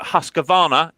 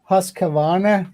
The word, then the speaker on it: Husqvarna: And if you pronounce your words correctly in English, like Husqvarna, you'll do so much better as well.